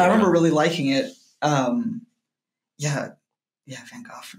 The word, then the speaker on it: Van Gogh: Van Gogh, man. Is that how you say it? I don't know. Yeah? That's how you said it. The British people said it that way.